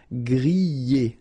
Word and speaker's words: griller: You pronounce them E, okay, even if you've got this R, okay, this combination of 2 letters, R at the end, will give you the sound E, all right, so griller, okay, let's see the others.